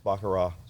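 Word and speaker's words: baccarat: I mean I like bakarra that's my favorite thing you don't pronounce the T I was told it's bakara anyway no the B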